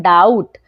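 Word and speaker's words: doubt: तो क्या पढ़ेंगे डम अब यहां ध्यान दीजिए डाउट यहां पर टी जो है वो क्या है टी से पहले है बी टी से पहले बी है तो भी यहां पे बी हो जाएगा साइलेंट तो क्या पढ़ते हैं डाउट ना कि डाउट ठीक है बी नहीं पढ़ते क्योंकि बी जो है वो टी से पहले आया है ठीक है चलिए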